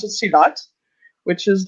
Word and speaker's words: silat: And the Indonesian main character uses I think that you pronounce it silat, which is like a very different, like everyone